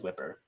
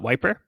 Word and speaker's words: Wiper: It was Whipper. Yeah. So you could just pronounce it as Wiper.